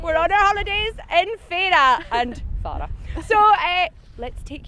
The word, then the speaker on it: Fara: We should mention that the locals correctly call it Fay-ra. Yes. Um, We found that out far too late. We thought it was Fara, but it's Fay-ra.